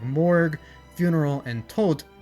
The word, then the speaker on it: Tot: For example, the over-the-top use of morbid code names like morg, funeral, and tot mispronounced as Todd here, could be seen as pretty cringe.